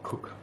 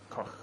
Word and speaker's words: Koch: Greg Cook. It's not Greg Cook. Sam Adams, yeah. Is it? Well, it's spelled Koch, but he's pronounced it. Yes. Yes. Koch.